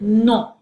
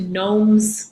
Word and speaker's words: noms: French, all nouns, notice I pronounced it non, as opposed to noms or nons. It's non, okay?